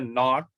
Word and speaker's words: naught: be this 0 0 is also called not okay 0 is also said to be the not so we can uh okay uh so we can okay pronounce it f naught or you can also say f zero are you clear which